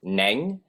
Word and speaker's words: Neng: example my name is neng and to say it properly you have to say it in how you say do re me so in the me